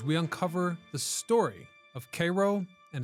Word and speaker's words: Cairo: so they called it Cairo, which I've been told locals pronounce as Cairo.